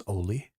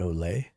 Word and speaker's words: Ollie: I think that's Ollie is how you pronounce that. I'm from southern New Mexico, so my brain really wanted to pronounce that Olay instead of Oolie.